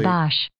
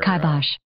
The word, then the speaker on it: kibosh: Kibosh. Kibosh. Yeah, so they're unclear about where the accent goes on the first or second syllable, but kibosh.